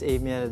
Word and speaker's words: Amiel: Well, yung usual talaga na pronunciation is Amel ba.